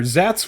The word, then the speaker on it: Szat: you pronounce this shoals i've been saying silent s yeah sure zats will one black four